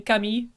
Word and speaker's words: Camille: better if you consider the more French pronunciation of Camille being Kami mhm like his name